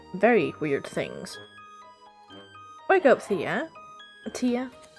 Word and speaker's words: Thea: Wake up, Thea. Tia? In Danish we'd pronounce her name Tia, so...